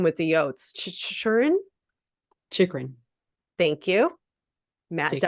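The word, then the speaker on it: Chychrun: Chikrin.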